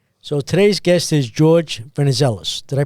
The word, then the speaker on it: Venizelos: So today's guest is George Venezellis. Did I pronounce that right?